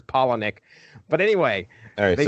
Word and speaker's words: Palahniuk: I don't think it's Polo-Nick because we got A's in there, so I'm sure it's Palahniuk.